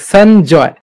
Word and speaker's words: Sanjoy: Did I pronounce your name correctly? Is it Sanjoy or Sonjoy? It is Sanjoy.